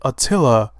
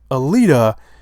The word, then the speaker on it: Alita: I've always called it Atilla battle Angel and I don't think it's pronounced a Tilla I've always been calling it a Tilla battle angel I think it's pronounced Alita and I could I